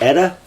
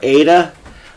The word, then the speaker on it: Eta: What is it, Eta? Something like that. Or Ada? I hear people arguing about the pronunciation, but it's Eta to me, because I know that Latin can be pronounced many different ways.